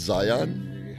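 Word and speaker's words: Zeihan: Oh, it's pronounced Zion?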